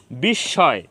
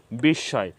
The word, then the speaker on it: বিস্ময়: ম ফালা সংযুক্ত হবে ওই বর্ণের উচ্চারণ দুইবার করতে হবে তো আমাদের রুলস অনুযায়ী